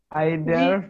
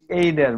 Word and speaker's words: either: আইদার নাকি এইদার, মানে দুইটার উচ্চারণ দুই ভাবে হচ্ছে, তো এইটা একটু যদি ই করতেন।